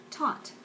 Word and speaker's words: taunt: Taunt. Just one syllable. Taunt. Taunt. Taunt. Taunt. So it's just like almost like hot taunt, not taunt, taunt, taunt, taunt. See if I can get the right shade. I know it's just one syllable, but there's some shading going on.